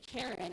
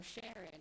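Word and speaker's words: Charon: Pluto and its companion Karen or Sharon or Karon, however you like to pronounce that one as well.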